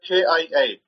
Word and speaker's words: Kia: Then we have KIA. They pronounce it Kia over here. You might pronounce it Kaya.